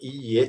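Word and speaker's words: いいえ: A palavra iie tem dois is. Iie. Porque se tiver um i só, ie quer dizer casa. Então, tomem cuidado com a pronúncia, né?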